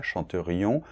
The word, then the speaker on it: chanterions: Donc, je chanterais, tu chanterais, il chanterait, nous chanterions, attention on doit bien entendre le i là, chanterions, vous chanteriez, ils chanteraient ,-ENT, c'est muet dans la conjugaison, d’accord ?